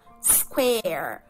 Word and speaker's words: square: diferente y por último cuando por ejemplo pronunciamos la palabra cuadrado ahí la suena como una especie de ea que square vale en resumen tenemos